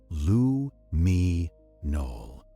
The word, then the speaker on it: luminol: Some are based on luminol pronounced lu me nol or similar chemicals.